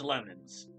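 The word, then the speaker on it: Leman: You're from Lemon State, right? Okay, look, I know that's spelled L-E-M-A-N, but I'm gonna call it Lemon State, like the fruit, like the plant.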